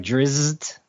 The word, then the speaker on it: Drizzt: One thing about that those elf books too is like I never knew how to pronounce the fucker's name. It's like Drizzt. Yeah, Drizzt.